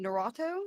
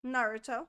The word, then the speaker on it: Naruto: culture and we just talked about it in Narato is that how you say it Naruto yes Naruto Naruto oh my God I can't